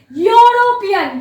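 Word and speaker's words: European: इधर आ ही होगा बिकॉज इसका जो प्रोनाउंसिएशन है ये ई जैसा नहीं है, इसका प्रोनाउंसिएशन है यूरोपियन, यू जैसा प्रोनाउंसिएशन है।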